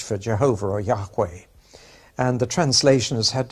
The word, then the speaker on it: Yahweh: letters of god's name that's pronounced Jehovah in English and Yahweh in Hebrew now to help you